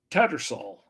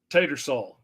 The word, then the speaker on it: Tattersall: The H is silent. Tattersall. It's hard to take that H out. It's hard to see it there and not say it. Tatersall.